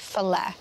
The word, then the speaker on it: ceffylau: So yn lle ceffylau, sy'n ni'n deud ffyle.